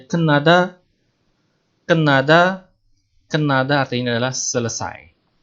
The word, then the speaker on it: 끝나다: Yang terakhir ada 끝나다, dibacanya kenada.